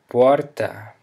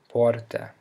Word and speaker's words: porta: But if the R comes in the middle of a word, on the accented syllable, it sounds like an even stronger H. In the words porta, porta, or carta, which means door and letter that follow, you can use your